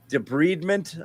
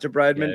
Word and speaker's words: debridement: One of the doctors there on Twitter, Jeff Stotts, debridement, I've been told is pronunciation, not debridement.